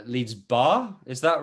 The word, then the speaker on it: Barre: And we have Natashas, who I think I'm pronouncing this right, leads Barre, is that right? Which is a combination of yoga, Pilates, and ballet? Yes, Barre is a combination of Pilates, dance, and calisthenics.